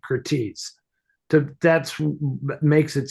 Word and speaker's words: Curtiz: um, we're all wrong because being a Hungarian, I believe the correct pronunciation of his name is Kurtej. Kurtej. Michael Kurtej, and That's pretty. but nobody says that because it's just Americanized, and because it's just a Z on the end.